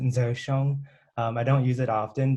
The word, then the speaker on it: Ger Xiong: But here's actually my Hmong name, and it's pronounced Ger Xiong.